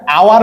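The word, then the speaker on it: hour: এইবার দেখো আমি কি এটাকে আওয়ার বলি নাকি হাওয়ার বলি? আমরা তো আওয়ার বলি, উচ্চারণ আওয়ার।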